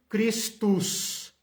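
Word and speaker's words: Christus: uma derivação do latim como se fala Cristo em latim cristos cristos Ok então mesma coisa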